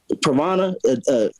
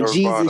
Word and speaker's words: Nirvana: Pravana. How do you say it? Pravana. The mental state. You get that translucent mental state. For Nirvana.